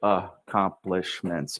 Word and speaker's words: accomplishment: the double letter twice but in this word accomplishment we don't often say a a a accomplishments so why do they have two C's there H good question because I only hear one C when I say accomplishments accomplishments so that's something to